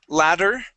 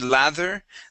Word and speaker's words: ladder: let's go to step ladder okay give me a good D sound here you would said lather this is ladder ladder step ladder step ladder